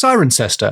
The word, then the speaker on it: Cirencester: It's It's pronounced Sirenester.